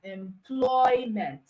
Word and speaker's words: employment: is not on meant stress is usually on the root word now the root word has two syllables and that two caes all right the two cable word is a verb so since it's a verb and it's a two SL word it means the stress is on the second syllable so we have employment enjoy is also a